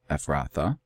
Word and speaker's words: Ephrathah: You just put that E at the end, Ephrathah.